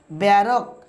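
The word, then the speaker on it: barque: দেখুন বি এ আর ও কিউ ইউ ই ব্যারক ব্যারক কিউ হচ্ছে কানে হচ্ছে ভিউয়ারস বলিষ্ঠ তারপর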